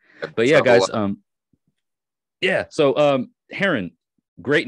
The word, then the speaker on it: Hjeron: the water bird, a Hjeron. And even though your name is not spelled the same way, it is pronounced as it is, you know, the actual bird.